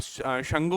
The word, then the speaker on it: शुंग: शुंग dynasty. इसको कई आप शंगु भी बोलते हैं, लेकिन इसका प्रॉपर प्रोनाउंसिएशन जो होता है वो आपका शुंग डायनेसिटी जो आपका होता है।